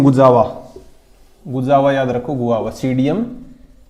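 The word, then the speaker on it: Psidium: गुजावा याद रखो, guava, सीडियम P silent, इसमें सीडियम गुजावा, मिर्टेसी फैमिली का है।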